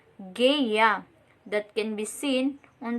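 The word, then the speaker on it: GUI: computer should work windows uses a colorful graphics interface called geya that pronounced geya that can be seen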